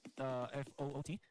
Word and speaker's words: FUT: You would first hear F-O-O-T or foot, Mhm. but then when pronounced properly, foot Esports rolls off the tongue.